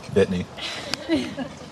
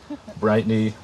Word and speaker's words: Bitney: Brooke, you have a very unique last name, Bitney. I can see how your last name could be mispronounced. Bitney, Brightney, maybe Brittany.